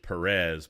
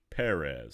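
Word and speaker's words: Pérez: done by George Perez that's emphasis on the first II I guess all these years I've been pronouncing his name wrong I've been pronouncing it George Perez but it's actually George Perez so that's kind of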